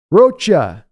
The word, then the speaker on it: Roa: my last name wrong it's Spanish pronounced see I just did it right there it's roach roacha roacha he always pronounces it like the word though see I'll try to remember